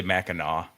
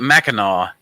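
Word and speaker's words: Mackinac: that Island do what macac island that's it that's it yeah somebody um know you're not from Michigan because it's spelled maak but you say maau well I was goingon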